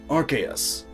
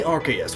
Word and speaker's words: Archeus: Anyway, in alchemy, the Arceus, which granted is spelled differently, though pronounced the same. Other Pokemon names do the same, just misspell words. Anyway, in alchemy, the Arceus is the densest and